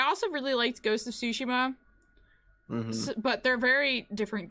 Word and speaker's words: Tsushima: It's not Tsushima, it's Tsushima.